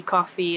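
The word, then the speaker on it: koffie: easy word to remember coffee coffee it's just a little bit of a different pronunciation but if you're not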